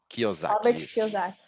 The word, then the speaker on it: Kiyosaki: Deixa eu ver aqui, investimentos, eu gosto do Pai Rico e Pai Pobre, esse eu acho legal, do Robert, como pronuncia, Dani? Kiyosaki.